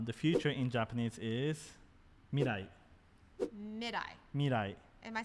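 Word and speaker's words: 未来: future in japanese is mirai mid-eye mirai am i saying it right mid-eye mirai it's hard in japanese there's no r or l oh it's kind of mixed together just the way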